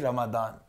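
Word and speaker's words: Ramadan: नीचे कमेंट कर रहे दोनों होते हैं रमन स्पेलिंग को लेके बड़ी हमेशा ही लड़ाई होती है कि इट्स नॉट रमदान इट्स रमजान नो इट्स नॉट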